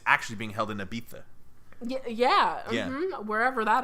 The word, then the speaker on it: Ibiza: beat that it smelled I bi za but it's pronounced Ibiza I don't know no